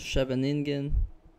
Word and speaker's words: Scheveningen: This is the so-called scheveningen. I think the Dutch people actually pronounce it Scheveningen, Sicilian.